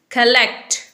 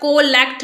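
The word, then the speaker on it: collect: Next word is कलेक्ट। कलेक्ट, इसे आप कोलेक्ट नहीं बोलेंगे, okay. This word is कलेक्ट।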